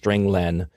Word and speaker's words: len: i pronounce it len because it means string length it returns the number